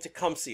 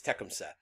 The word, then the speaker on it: Tecumseh: a younger leader there tekumset people call him tecumseh a lot of the time but my understanding is the correct pronunciation is techemsa and tekemset is young and he's angry and